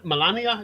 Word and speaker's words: Melania: i've ever heard she was fantastic um milan melania is that the way you pronounce her name yes um uh uh i